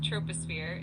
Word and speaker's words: troposphere: It's pronounced troposphere.